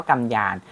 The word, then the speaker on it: กำยาน: กำยาน ใช่ ไหม ครับ ออก เสียง ว่า กำยาน อัน นี้ ก็ เป็น ภาษา มา อยู่ นะ ครับ ต่อ มา